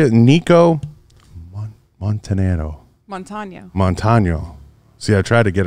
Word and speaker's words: Montaño: Montano. See, I tried to get it right. Yeah. Montano.